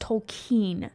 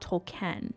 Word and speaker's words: Tolkien: man named JRR Tolen and yes it is pronounced Tolen not tol Ken split into three parts The Fellowship of the